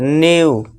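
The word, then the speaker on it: new: अब देखिए इस वर्ड में क्या आ गया, ई डब्ल्यू आ गया, तो उसका उच्चारण क्या होगा, फ्यू यानी कि कुछ। फिर न्यू यानी कि नया।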